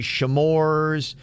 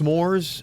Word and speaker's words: s'mores: was supposed to be Kevin why does Kevin pronounce s'mores with a shamar's reminds me of when he thought everybody said scritch is haha you know what I think it was I know it's s'mores I think I got that in my head